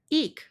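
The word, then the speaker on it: იქ: So this one is aspirated, which is ik. So there in Georgian is ik.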